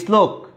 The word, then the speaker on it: শ্লোক: যেহেতু তালবস্য আছে, নিয়ম অনুসারে দন্ত আশ্র আসবে শুরুতেই আগের বর্ণের, তারপরে হবে শ্লোক। উচ্চারণে কিন্তু কোনো ধরনের পরিবর্তন হয়নি। ক্লিয়ার?